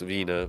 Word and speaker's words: Wiener: It's actually pronounced Wiener, but, you know, we're not going to let that get in the way of a good...